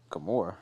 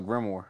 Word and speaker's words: grimoire: Gamora? What are you talking about? It was a Black Clover reference. Oh, the Grimoire.